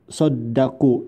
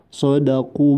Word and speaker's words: صدقوا: Selanjutnya Brotos mengucapkan sodaku, dalnya memakai tasdid, padahal tidak pakai tasdid, jadi dibacanya sodaku ma ahadullah, sodaku.